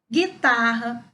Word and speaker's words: guitarra: E do outro lado, nós temos açougue, guitarra, sangue, mangue e guerra. Reparem que deste lado aqui, nós não escutamos o som do U.